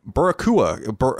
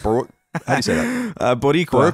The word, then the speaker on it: Boricua: David Rivera wrote into us and said, hello, Italian Colin and Barakua. How do you say that? Boricua.